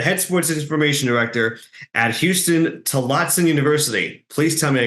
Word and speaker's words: Huston-Tillotson: Huston-Tillotson University. Tillotson. Okay. See, I knew I was going to screw part of it up. I got Houston right, even though it's not spelled like Houston, Texas.